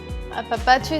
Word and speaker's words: Apapacho: Did I say it right? Yeah, you said it right. Now, what does that mean? Apapacho is a very Mexican word, Okay.